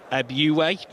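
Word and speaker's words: Ebiowei: Reliably informed, it's Ebiowai.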